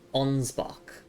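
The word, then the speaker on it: Ansbach: It's pronounced as onsbach.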